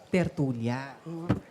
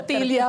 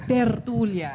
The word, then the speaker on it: tertulia: Tortilla baka mo. Parang nagutom bigla ang audience. Gutom na ba kayo? Tortilla baka mo? Hindi tortilla. Tertulia. And you have to roll your R's. Tertulia po.